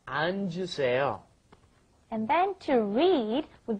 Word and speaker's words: 앉으세요: Because it's got the double 받침 there. So you've got to go 안, and then the J sound comes up, 앉으세요.